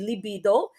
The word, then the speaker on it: libido: is inactive or um the correct pronunciation for that would be libido okay correct pronunciation it's